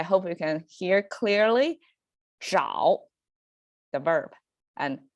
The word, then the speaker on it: 找: And you see pronunciation almost the same, but the first one with the H marker, I mean sound pronunciation over there, which signifies you have to kind of curl up your tongue to make it 找 versus the other one is 早.